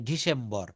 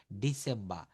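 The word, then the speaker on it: December: কথাগুলো বলে আসছিলাম বলছে শব্দ বা বাক্যের শেষে আর থাকলে আর এর উচ্চারণ হয় না ব্রিটিশরা এই আর এর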